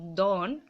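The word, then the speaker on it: Don: ও এন এটা হচ্ছে ডন উচ্চারণ মানে ডন ড এরকম করবে না দ উচ্চারণ তন ঠিক আছে দন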